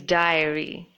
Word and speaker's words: diary: This is diary. It's similar to a journal, and this is supposed to be pronounced as diary.